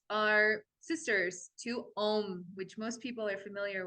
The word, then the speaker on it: Om: These seed sounds are sisters to Om, which most people are familiar with. That's the really popular one. That one's for the third eye. That one actually has 3 syllables. So it's kind of an o, The reason that